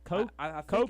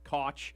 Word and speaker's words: Koch: Victor Glover Christina oh I think it's coach Coke it was coke I thought I heard when they announced her yesterday I think they said cook because I've seen it pronounced cook coach Koch yeah I think I think they said coke maybe because you know